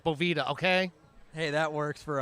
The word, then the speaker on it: Boveda: do with the doveways boveda dude or boveda if you guys want to be french call it boveda i'm american so it's bovida okay hey that works